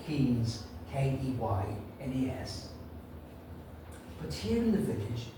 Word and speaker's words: Keynes: And this woman stood up and said, "Oh, excuse me, I know it's spelled Keynes, Keynes, but here in the village, we prefer to pronounce it Keynes.